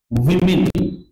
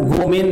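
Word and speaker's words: women: Sentence है I hate विमेन। इसका उच्चारण वोमेन नहीं होता, वीमेन है ना, इसका उच्चारण विमेन।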